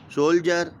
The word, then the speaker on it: soldier: सोल्जर, SOLDIER, सोल्जर, इसमें भी L silent रहता है, चुप रहता है, L का उच्चारण नहीं होता। SOLD, सोल्ड नहीं होता, सोल्जर होता है, ठीक है, ठीक है।